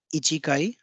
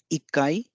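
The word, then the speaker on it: 一階: one is ikai so Ichi doesn't become ichikai but it becomes ikai so this is an exception and this exception is to ease the pronunciation so ichikai may not be fluent may not have a smooth flow when we speak sentences so that's why it is Blended as ikai using double consonant so you can see here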